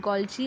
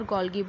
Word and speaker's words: Golgi: Someone just tell, you can just pronounce it Golgi or Golgi, both are right.